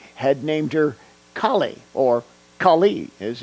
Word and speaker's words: Kali: seminars whose mother had named her Kali, or Kali as it's pronounced in Hindi.